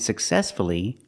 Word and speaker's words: successfully: So with words like hopefully, respectfully, and successfully, we pronounce a U.